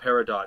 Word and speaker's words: peridot: why is she called peridot it should be peridot it's french the t is silent uh anyway oh that